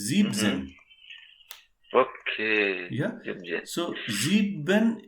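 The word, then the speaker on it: siebzehn: or 17 like thing it is not zibenzen it is zebzen okay yeah yeah so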